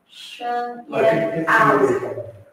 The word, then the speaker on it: Shen Yan Ao: Shen Yan Ao. That's really it's Cantonese pronunciation.